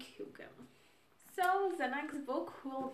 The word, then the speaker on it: Hygge: This will be Hygge. I hope it's pronounced as Hygge.